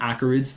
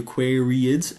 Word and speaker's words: Aquariids: I've been doing my best to pronounce it correctly this time, but I do have a habit of pronouncing them Aquarids, the Eta Aquarids. Really it is the Aquariids and you will see